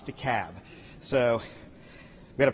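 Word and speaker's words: DeKalb: Yankees in the room it's de cab not deal not de cob it's the cab so we got to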